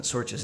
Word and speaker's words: Sorcha: So I was pronouncing Sorcha's name wrong. It's Sorcha. It's an Irish name.